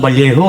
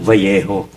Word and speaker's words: Vallejo: Sabi ko wow pare ang ganda pa ng valjo. No. Sabi niya porky careful. Bakit? Kasi dito sa Valleyejo pag double L ang pronunciation niyan Vallejo. Oo. Bakit Valjo? Kasi double L eh.